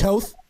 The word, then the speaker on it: Toth: Did I pronounce his name right? Toth?